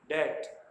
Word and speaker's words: debt: CLIMB, climb, यहाँ पर B silent है। DEBT, डेट।